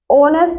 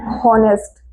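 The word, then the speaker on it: honest: तो यहां पर ऑनेस्ट वाला साउंड आ रहा है ना कि होनेस्ट।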